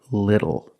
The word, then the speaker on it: little: When you see TLE or TTLE, phonetically the T is between vowels. And for this reason, the T changes to a fast D in American pronunciation. That's why we do not say little, we say little.